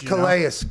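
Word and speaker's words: Calais: supposed to i mean it's clay in french it's kalaeus campbell by the way yeah it's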